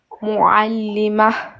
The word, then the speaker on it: معلم: معلمة. Pas mal, c'est bien. Continue. Un enseignant. معلم. معلم. Ah, tu vois, quand tu forces, tu arrives à prononcer l'Aïn.